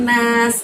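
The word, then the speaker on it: الناس: Pada saat mengucapkan nas, karena di situ ada sin tanpa titik ya. Kalau sin kita harus gerakkan mulut kita, ditarik kanan dan ke kiri gitu ya teman-teman ya.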